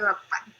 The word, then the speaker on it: Appan: So in some states of South India, everything ends with an. That's the dialect. So instead of saying Guruvayur Appa, it is Guruvayur Appan.